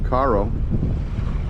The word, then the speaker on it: Cairo: here that goes to Caro which is spelled like Cairo but they pronounced Caro around here so just make a